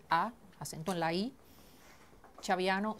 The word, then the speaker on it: Chaviano: escribe d de Diana a i n a acento en la i chaviano c h a b de y anno